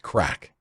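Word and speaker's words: craic: be best described with a Gaelic word that is spelled c-r-a-i-c pronounced crack while the literal translation of the word means fun in Irish culture crack means lively conversation and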